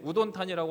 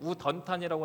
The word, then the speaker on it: 우돈타니: 우리 제가 이제 설명을 드릴 때 우돈탄이라고 할 수도 있고 우던탄이라고 할 수 있는데 우탄이는 영어식 발음이고 우던탄이는 현식 발음입니다.